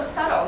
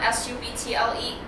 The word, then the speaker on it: subtle: 喺呢度 subtle 啦，S-U-B-T-L-E，佢發音咧係 subtle，B 咧係 silence 嘅，所以係 subtle。意思係暗地裏嘅改變咁解，係唔明顯嘅改變。He is confident